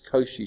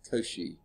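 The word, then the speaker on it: Cauchy: do you pronounce it I think it's Koshi Schwarz that sounds better than couch it's um I'm pretty sure he's French Augustin Louie kosi uh yeah French mathematician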